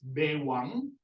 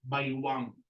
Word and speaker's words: baywang: Okay, or now, there are two ways of pronouncing this word. You can say it as bewang, but others also say baywang. Bewang or baywang, either is acceptable.